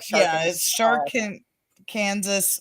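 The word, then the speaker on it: Sharkansas: woman's prison massacre oh shark it's like shark and king together kind of like arkansas but i guess it's like sharkin kansas women's prison massacre yeah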